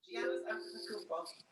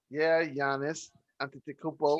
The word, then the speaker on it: Antetokounmpo: Giannis Antetokounmpo. Ooh. It took work, but I got it. Yeah, Giannis. Giannis Antetokounmpo.